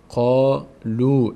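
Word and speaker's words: قالوا: موقع صدای چی می‌گیره واوی که حرکت نداشته باشه صدای او می‌گیره میشه قا مثل اینجا فتح بعدش الف صدای آ گرفت ضمهم بله وا صدای او می‌گیره قالو این مد هم اینجا نشان از این است که ما این علامت وا رو باید بکشیم قالو قالو قالو قالو این الفی که روش صفر قرار گرفته یعنی هیچ خوانده نمیشه نوشته میشه خوانده نمیشه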